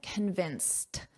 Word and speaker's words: convinced: So, in this case, convinced, notice that pronunciation, a very soft T at the end, convinced. Convinced.